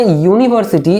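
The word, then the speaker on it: university: দেখো এটাকে যদি আমি প্রোনাউন্সিয়েশন করি তাহলে খানিকটা এরকম হচ্ছে প্রোনাউন্সিয়েশনটা, ইউ নি ভার সি টি, ইউনিভার্সিটি, বুঝতে পারছো?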